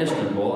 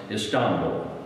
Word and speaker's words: Istanbul: Americans call it Istanbul. I lived there for a few years. It's actually pronounced Istanbul.